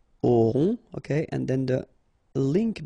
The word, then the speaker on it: auront: Then, ils auront, final T not pronounced, O-N together, on, auront, okay.